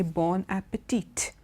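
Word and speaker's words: bon appétit: Generally most people do pronounce the T, but sometimes at the end of that expression bon appetit, but it is also sometimes kept as silent, but it's okay, bon appetit.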